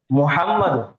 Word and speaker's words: محمد: بار بار پڑھنے کی۔ اور بہت ساری غلطیاں ہمارے جو محمد بولتے نہیں، محمد محمد میم کے اوپر پیش ہے تو پیش کی آواز برابر آنا، ہوٹ